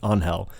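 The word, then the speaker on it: Ángel: on Hell spelled angel I read it as angel the entire book until like in the last 50 pages some piece somebody says that it's actually spell or pronounced on Hell so happy white privilege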